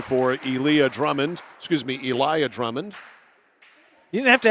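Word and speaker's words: Eliya: no good rebounds out of bounds I was pronouncing it Ilah because it's spelled like that e l i y a somebody told me after the game no it's Eliah I'm a guess an angry parent no they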